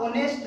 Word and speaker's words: honest: आप ओनेस्ट देखिए ध्यान से, HONEST, ओनेस्ट, इससे बेटा ओनेस्ट बोला जाता है, ओनेस्ट, ओनेस्ट। जो एच है हमारा यहाँ म्यूट है, म्यूट का मतलब साइलेंट है, तो हम ओनेस्ट से इसे प्रोनाउंस करते हैं।